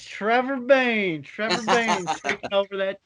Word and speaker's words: Bayne: His last name rhymes with Kane. It's Trevor Bayne.